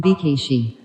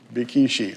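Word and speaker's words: Békésy: Georg von Bikishi. Bikishi, all right? That's how you pronounce Bikishi, all right?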